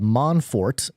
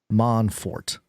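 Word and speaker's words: Mon4t: the company is called Monfort and they the way they spell it out it's m o n and then the number four and then T man Fort very creative and they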